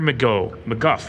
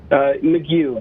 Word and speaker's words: McGuff: do we have McGuff, I think. are you there? I'm here, yes. And what's the right pronunciation? McGew, but you can say I wasn't even close.